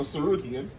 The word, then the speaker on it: Tsarukyan: The T is silent, so Tsarukyan. Tis the season.